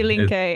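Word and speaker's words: Die Linke: that Resurgence um the the party can you pronounce it for me is it delink dink yes exactly dink which translates the left the left the left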